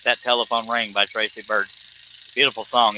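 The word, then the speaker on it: Byrd: telephone ring by Tracy bird beautiful song it's kind of traditional country but if anybody else is listening goes to YouTube to look for it it's spelled b-y-r-d is his last name b-y-r-d bird you know but after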